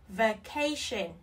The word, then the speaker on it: vacation: V, v, cation, vacation, a, e, e, a, a, cation, vacation. Trọng âm rơi vào âm tiết thứ hai.